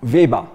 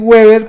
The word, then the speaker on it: Weber: burócratas estilo me corrige Cómo se dice beber en en alemán Viva Viva para que todos aprendamos por lo menos algo otro dicen Weber pero es viva que debe ser es un